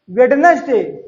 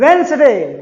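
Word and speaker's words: Wednesday: कई बार हमने देखा है बच्चे इसे प्रोनाउंस करते हैं वेडनेसडे। डिक्शनरी देखो बच्चों, इट इज प्रोनाउंस्ड वेंसडे।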